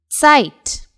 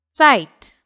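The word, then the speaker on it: Zeit: exactly sound s it it basically begins with the pronunciation of TS site the site the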